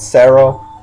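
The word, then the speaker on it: ゼロ: I'm surprised they don't call it Sero, which is how you say 0 in Japanese.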